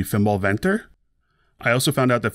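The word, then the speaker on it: Fimbulwinter: tank by the way my norse friends tell me that the closer way to pronounce this would be fimbal venter i also found out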